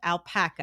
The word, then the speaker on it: Alpaca: And so I showed up, and we were looking at your product, your platform, which is called Alpaca.